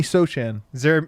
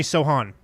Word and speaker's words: Sochan: was ac actually and then we have jeremy sochan jeremy sohan so hard to correct pronunciation hot yeah well he's polish as we'll